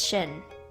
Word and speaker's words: Shin: never met him before I know it's pronounced sheen but that sounds like the like friend of Jimmy Neutron so it's Shin for now what now